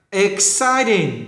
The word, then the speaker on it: exciting: Exciting, nhấn âm 2. Exciting, đó, nhấn âm 2.